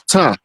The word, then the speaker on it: Ptah: Now, who in the hell is Ta? The P is silent, by the way.